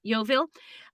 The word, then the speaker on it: Yeovil: so this is in so this is wales yeovil is that how i say it correctly yeah yovil uh and he spotted a man trying to